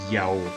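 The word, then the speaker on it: Iao: we now see that this pronunciation seems to reflect a Hebrew form, Yahu. So whenever you hear of names such as Netanyahu, it really is to be pronounced Yao.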